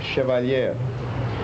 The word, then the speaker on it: Chevalier: Center Auditorium grant funds for the, do you pronounce it Chevalier? Chevalier.